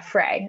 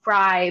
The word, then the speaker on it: Frey: a second you're right it is pronounced fry but i did misspell it it is okay perfect no problem um let's see yeah fray okay great so it's fr well fry but spelled f-r-e-y so